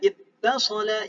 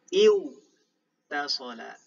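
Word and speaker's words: اتصل: Jadi sebenarnya di sana iwtasala. Iwtasala. Karena di sana huruf waw ini berat untuk diucapkan, jadi melebur ke huruf ta. Jadi tak bertasydid. Ittasala.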